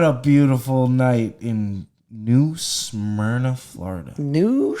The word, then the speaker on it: Smyrna: yet what a beautiful night in new smyrna florida new smyrna s-n-y-r-n-a is that you spell it yeah that's it s-m-y-r-n-a smyrna smyrna beach